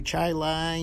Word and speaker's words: Chili: trip to american packaging corporation we went to chai lai new york looks like the word chile but it's pronounced chili american packaging also has a facility